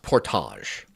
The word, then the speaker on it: portage: It's pronounced portage.